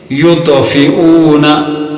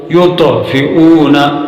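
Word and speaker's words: يطفئون: تا سے مشابہ ہوگی۔ ان الفاظ کے تلفظ کو ذرا غور سے سنیے، یطفئون اور یترکو، یطفئون، یترکو، یترکو۔ اب تا کی آواز میں ہمس ہے، قلقلہ نہیں، جبکہ تو کی آواز میں قلقلہ کا قاعدہ ہے۔ یطعم قلقلہ ہے تو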